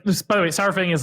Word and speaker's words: Saurfang: so so cool and do you say saurfang or sarfat personally sar but like i say dinosaur